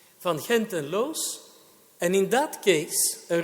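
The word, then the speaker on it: Van Gend en Loos: from hent and Los I'm a Dutch speaker so I pronounced the name in its original pronunciation van henten Los and in that case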